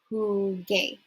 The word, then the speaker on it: jugué: So that's going to give us yo jugué, right? If we leave it like with this just the G, it's going to be yo jugué. But we want to preserve the hard G sound, so it's yo jugué.